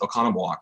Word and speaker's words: Oconomowoc: It means that we're probably the only two that can look at that and pronounce it Oconomowoc correctly.